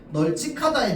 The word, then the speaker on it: 널찍하다: 그래서 우리가 발음할 때 널찍 이렇게 발음한단 말이야.